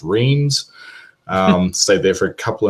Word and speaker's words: Reims: known for its champagne called Reims, or as it's commonly pronounced, Reims.